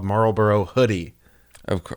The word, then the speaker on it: Marlborough: definitely a marble marlborough how do you say that name marlborough it's marlborough i also saw uh